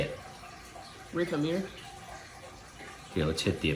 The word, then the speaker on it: récamier: Recamier. Here, let's hit the pronunciation thing. Récamier.